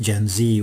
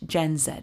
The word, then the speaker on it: Gen Z: Um but we do note that uh for some listeners at least, Gen Z will sound like an Americanism.